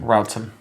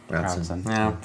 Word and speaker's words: Routson: How do you say her last name? Routson. Routson. Yeah.